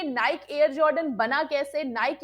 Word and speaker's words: Nike: जानते हैं की निक की विच इस एक्चुअली प्रोनाउंस इट इस निक ये कंपनी आई कहां से और इसकी शुरुआत